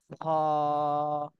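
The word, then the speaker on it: خاء: শুরু মাঝখান শেষ তাহলে কলার শেষ ভাগ থেকে এই হরফটা উচ্চারণ করতে হবে খা এই হরফটা আমরা দুই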